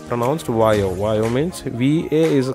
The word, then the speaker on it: Vaio: It is how it is pronounced, Vaio.